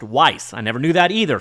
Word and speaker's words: Wwise: Canadian company which is cool uh and it's pronounced Weiss I never knew that either so this is a wise thing to learn uh I used to call it w Weiss I've never knew how to pronounce a ww